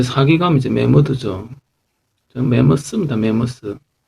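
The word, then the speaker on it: mammoth: 메머스. 맘모스도 아니고 메머드도 아니고 이게 스입니다. 스. 그래서 메머스 이랬습니다. 오리지널 발음은 메머스.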